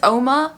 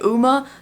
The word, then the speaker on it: UOMA: Some people said it's OMA, the U is silent. Some people say UMA, the O is silent. Like, I'm calling it UOMA. That's just how it is.